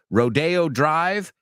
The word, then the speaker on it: Rodeo Drive: the the bull and the Cowboys over at a rodeo right but if you go to Los Angeles and you want to go shopping in some Swanky shops well then you're going to go down Rodeo Rodeo Drive Rodeo a place you go with your cowboy boots you know I got